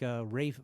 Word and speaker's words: Ralph: Spelled Davies, but pronounced Davis, like Rafe Fiennes is spelled Ralph.